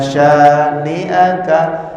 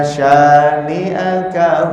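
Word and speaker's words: شانئك: Inna syani'aka jangan panjang ini ya. Inna syani'aka huwal abtar. Kadang-kadang ke bawah lagu kebacanya jadi panjang. Inna syani'aka, kadang-kadang gitu ya. Padahal ini panjangnya cuma 2 harokat.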